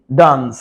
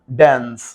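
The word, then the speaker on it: dance: ঠিক না তোমরা করো দেখ হয়ে যাবে যে ডান্স এটা ইউকের উচ্চারণ আমরা ইউকে ফলো করি ইউনাইটেড কিংডম ঠিক আছে জাস্ট ব্রিটিশ উচ্চারণ ফলো করি এইটা একটু দেখাইলাম তোমাদের আমরা ডান্স ড্যান্স ওদের উচ্চারণ হচ্ছে আমেরিকান হচ্ছে ড্যান্স এ ড্যান্স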